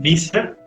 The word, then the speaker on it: Wieser: pero les recomiendo el autor Martín Visser, que se escribe Wieser, que es el que